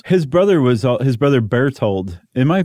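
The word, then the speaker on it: Berthold: really rethink this his brother was his brother bear told am I pronouncing that correctly b-e-r-t-h-o-l-d yeah okay his brother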